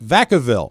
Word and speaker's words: Vacaville: I believe the town in California is pronounced Vacaville.